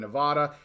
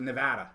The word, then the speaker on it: Nevada: say something yeah yeah we say Nevada and we were corrected Nevada Nevada I got to say it correctly Nevada yeah I don't know